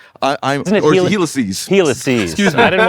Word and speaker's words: Helices: We're actually all using Helixes. Isn't it Helices? Helices. Excuse me. I didn't want to be a jerk about it. Helices.